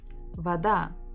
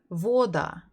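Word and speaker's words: вода: actually know it so if you're confused like with this word Vada you can try to read by yourself so if it will be stressed on the first syllable you would read it as Voda Voda doesn't is not very easy that's why you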